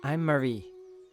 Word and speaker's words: Marie: I'm Marie. Marie. After, who was it? The Virgin? You're not familiar with the Virgin Mary? It's spelled Marie, but it's pronounced Mary.